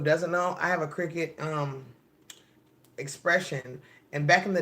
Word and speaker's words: Cricut: explorers or something well I'm saying it wrong like wicket Cricut explore air or all